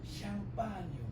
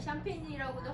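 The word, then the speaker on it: Champagne: 샴파뉴. 아 대단합니다. 박수. 발음이 참 좋습니다. 그다음 요게 이제 영어로는 샴페인이고 아까 눈치챘겠지만 샴페인이라고도 하다가 쌍파뉴라고도 하고 그러죠. 같은 말입니다. 그래서 불어로는 쌍파뉴고 영어로는 샴페인이라고 발음을 하면 됩니다.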